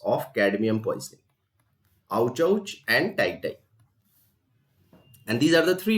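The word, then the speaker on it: itai-itai: I is silent. It is also called tie disease. So remember these two important names of cadmium poisoning: ouch and tie.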